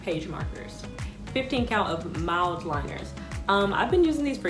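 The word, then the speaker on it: Mildliner: So they're pronounced mild liners for people who have been saying it wrong.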